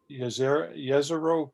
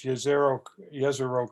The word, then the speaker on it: Jezero: So what this is called is Jezero crater, or Jezero crater. I'm not sure how you pronounce it, but I know J is spelled pronounced as a Y because it comes from I think the Baltic states.